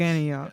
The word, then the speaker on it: Sufganiyot: But there is a word I don't know how to pronounce it. That's why I did not say it. Sufganiyot. Yeah, okay. Yeah. Yeah, it's Sufganiyot. Confident. That's- Sufganiyot.